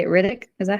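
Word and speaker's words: Ridoc: Riddick.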